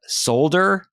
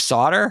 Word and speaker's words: solder: And the other thing that drove me up the wall with the voice acting is they kept saying solder instead of solder.